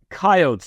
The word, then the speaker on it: coyotes: Gabe, do you pronounce it coyotes or coyotes? Coyotes.